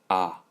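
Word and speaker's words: ㅏ: represents the morning and the pronunciation for this is ah ah and okay and now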